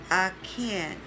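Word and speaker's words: Achan: after him for israel in the time of arcane it's spelled a-c-h-a-n and samuel and david for the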